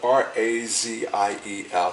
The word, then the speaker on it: Raziel: It's spelled R-A-Z-I-E-L, so I can only assume that it's pronounced Raziel.